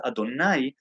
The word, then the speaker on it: Adonai: we perceive things but the name of god as we have it here in this world pronounced adonai it already should give you an idea of the duality of it where it's looked at one way read in your mind let's say in one way but pronounced and uttered in a in a different way and that has to